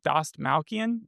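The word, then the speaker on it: Dastmalchian: How do you pronounce his last name? Doss Malcian.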